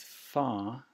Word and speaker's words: far: With far, you can hear the R sound in the UK when it's followed by a vowel.